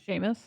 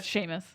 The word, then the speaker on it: Seamus: and then the the old cinematographer Seamus McGarvey Sheamus oh is that is that how you pronounce it how's it spelled uh SEMA it's spelled like Seamus oh yeah Sheamus oh shame okay because of Harry Potter so